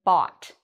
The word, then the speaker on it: bought: in it we can pronounce o-u-g-h like an ah and notice there's no g in that so the g is a silent letter so let's look at